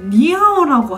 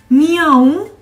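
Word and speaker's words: 你好: 왜 고양이 소리다라고 생각했냐면 니야옹 이런 식으로 발음했단 말이에요 응 이렇게 이게 뭐예요 프랑스어의 비모음 앙 응 응 이거 비강을 써가지고 이런 식으로 발음하는데 이게 니하오 이건 이제 어떻게 알아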